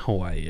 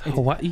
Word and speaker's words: Hawaii: And it's not Hawaii, everybody. It's Hawaii. It's Hawaii. Or Hawaii. That's the actual way to pronounce Hawaii.